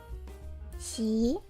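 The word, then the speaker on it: 囍: How do you pronounce this? Oops. Yo. Come on. You can do it. There we go. She.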